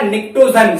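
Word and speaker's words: Pnictogen: निक्टोजन, जिसमें P silent होता है आपका।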